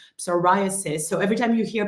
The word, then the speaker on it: psoriasis: hard for me uh because it's just not where we put the accent in French so sasis is how we say it in French psoriasis so every time you hear psoriasis just remember it's my